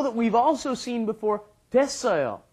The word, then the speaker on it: 됐어요: That's because it is 됐어요 and 되었어요. You just kind of drop the ut part and you get 됐어요.